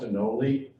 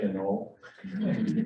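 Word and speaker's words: anole: even wrote in a paper he said it's pronounced enoli but i still say a null even admitted that he pronounces it wrong which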